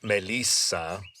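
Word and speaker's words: μέλισσα: And we can see hints of this non-Indo-European language in words like melitta in some dialects it's pronounced melissa and it's where we get the name Melissa from.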